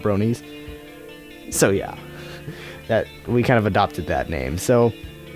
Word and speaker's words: Bronies: reason why is because XQC mispronounced the name all the time. He kept calling us Broners, thinking that's what we were called, not Bronies.